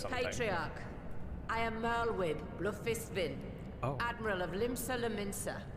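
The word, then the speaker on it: Bloefhiswyn: I am Merlwib Blufisvin, Admiral of Limsa Laminsa. Blufiswin.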